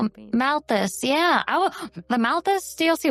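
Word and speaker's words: Malthus: I I kept calling him Matias. Yeah. No, it's M A L T H U S. Mouthus.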